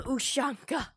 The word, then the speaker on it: ushanka: us that long to find somebody with the ushanka that is how it's pronounced okay you are not giving me a